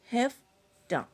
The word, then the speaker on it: हैफ्टा: इसका प्रोनाउंसिएशन है हैफ्टा। ये हैव प्लस टू का कॉन्ट्रैक्शन है।